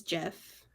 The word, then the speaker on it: GIF: of on a call it's Jeff I'm going with Jeff like peanut butter I think wasn't there